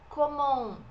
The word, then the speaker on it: comment: Seria comment, aqui o T não é pronunciado, comment vas-tu? O S também não é pronunciado.